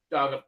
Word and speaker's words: Galaga: How do you pronounce this game's name? Sorry. Galaga.